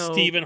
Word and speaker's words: Stephen: It's a PH in the middle, not That's a V. Steven. It's Steven.